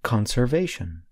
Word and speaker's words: conservation: In the noun conservation, I stress the first part of the word. Listen again. Conservation.